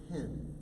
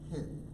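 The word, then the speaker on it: חן: You know, interestingly enough, the word grace in Hebrew is the word hin. It looks like chin, but it's actually pronounced hin.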